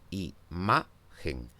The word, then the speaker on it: imagen: Así, por ejemplo, en la palabra imagen tengo tres sílabas y es la segunda de ellas la sílaba tónica, imagen.